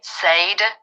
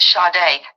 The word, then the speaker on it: Sade: spelled s a d like you would say Sade like Sage it's pronounced shade Justice for shade our fallen angel yeah ma'am